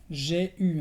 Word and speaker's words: j'ai eu: En francés normalmente la combinación E-U te da el sonido E, pero en este caso se pronuncia como una U. Entonces, j'ai eu.